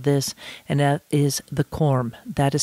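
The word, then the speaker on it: Cormé: thousand bottles of this and that is the corm that is spelled c-- o r m e i pronounce it as car Mae and it is exquisite absolutely exquisite the more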